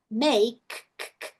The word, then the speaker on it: make: Em vez de make, make, termina no K.